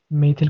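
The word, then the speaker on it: methyl: मेथिल chloride. मेथिल chloride, ठीक है ना, इसका नाम क्या होगा, मेथिल क्लोराइड, है ना। और मिथाइल क्लोराइड हम प्रोनाउंसिएशन पे डिपेंड करता है ना।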